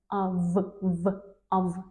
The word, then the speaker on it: of: When we see of F with one F, it is pronounced as of be out of.